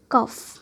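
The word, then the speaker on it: cough: क्या साउंड दे देती है? फ। जैसे रफ, कफ, लफ, एनफ। और कभी ये जी एच साइलेंट भी हो जाती है, जैसे हाई, बॉट, दो।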